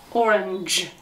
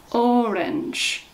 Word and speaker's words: orange: e together sounds like sounds like the letter j orange orange orange there's two syllables orange orange i have an